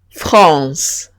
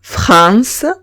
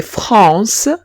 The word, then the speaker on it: France: Ahora si tengo una AN o una AM o bien una EN o bien una EM, se pronunciarían on. On. Ejemplo, France. Muchos hispanohablantes, cuando ven una AN, la pronuncian como en español y dicen, por ejemplo, France en vez de France. Y dicen, cuando veo una AN, no pronuncio la A separada y la N separada, sino que pronuncio AN